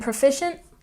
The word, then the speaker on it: proficient: And proficient, we stress the second syllable again. Proficient, proficient.